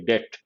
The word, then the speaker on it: debt: has to mention their debt here the letter b is silent debt both domestic and